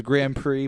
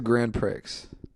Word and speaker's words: Grand Prix: car you know it was called it was Grand Prix ponti Grand Prix it was uh which is it's a racing term if you don't know but uh what's a grand pricks that's that's how I pronounced it as a kid that's what I